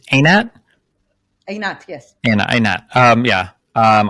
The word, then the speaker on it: Einat: I mean, is it pronounced? It's Einat?